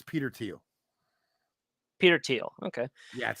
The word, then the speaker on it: Peter Thiel: Peter Thiel. Okay. Yeah, that's how you pronounce it.